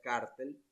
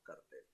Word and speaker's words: cartel: Esa palabra, el término cartel, en otras palabras, generalmente se pronuncia cártel, ¿no? En otros países, en Venezuela decimos cartel.